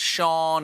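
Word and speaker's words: Seán: It's just one of those weird Irish things, like how Scene is pronounced Sean, and Siobhan is pronounced Siobhan, and soda bread is considered food.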